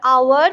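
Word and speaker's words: hour: इसका वावेल की तरह प्रोनाउंसिएशन है, एच ओ यू आर, आवर, बट एच है साइलेंट.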